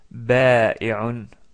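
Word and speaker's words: بائع: comme dans le mot ba'i'un, ba'i'un. C'est un peu difficile à prononcer quand même parce qu'il y a le hamza et ensuite le a.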